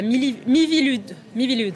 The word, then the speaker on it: Miviludes: Vous êtes le président de la Miviludes, c'est comme ça qu'on prononce, la mission interministérielle de vigilance et de lutte contre les dérives sectaires.